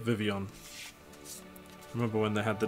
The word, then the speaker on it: Vivillon: that's cool nice and after the vivillon that's how you say it vivillon remember when they had